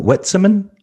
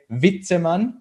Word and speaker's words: Witzemann: right whitseman or whitetailman um neither neither one uh yeah but that's that's a really common thing so actually the real pronunciation would be uh vitteman so v instead of w right yeah but